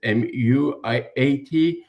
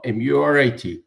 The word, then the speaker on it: Murat: Is it Muiat? No, Murat.